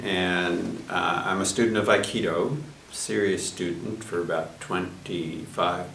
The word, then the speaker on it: Aikido: his martial art practice Aikido is three syllables i means blending ki